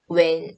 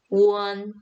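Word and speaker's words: wen: 그래서 when 아니고 won, won이라고 읽어주시면 되겠습니다.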